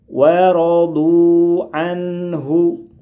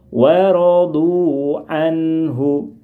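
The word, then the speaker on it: ورضوا عنه: Waradu anhu. Waradu anhu. Ingat, nun sukun model yang pertama dibaca pendek saja. Tidak boleh kita membaca seperti ini. Waradu anhu. Membacanya kepanjangan. Dibaca pendek saja. Waradu anhu.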